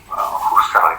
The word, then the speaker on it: Husserl: Ini dibacanya orang suka salah, Husserl, bukan Husserl lah, karena dia bukan orang Inggris, jadi dia orang Jerman, bacanya Husserl aja, Edmund Husserl.